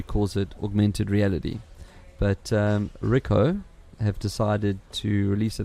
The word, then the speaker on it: Ricoh: And according to Ricoh, is that how you pronounce it? Ricoh. Ricoh, right. yeah. It is Ricoh, hey?